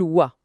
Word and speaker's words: は: Même si ça s'écrit avec le hiragana ha quand elle est utilisée comme ça, comme particule, on la prononce wa.